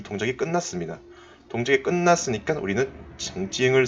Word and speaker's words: 曾经: 자, 이것은 일찍이 또는 이전에라고 우리가 해석을 할 수가 있는데, 이 정이라는 것을 발음을 할 때 ch, 청 이런 발음보다는 이 ts 발음에 더 가깝다고 생각이 됩니다. 그래서 요 발음을 해주시면 더 좋을 것 같습니다.